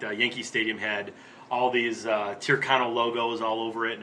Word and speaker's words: Tyrconnell: How do you pronounce it? Oh, sorry. Tyrconnell.